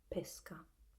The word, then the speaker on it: pesca: And so I personally, in my area, we pronounce it with the closed E in both cases, pesca.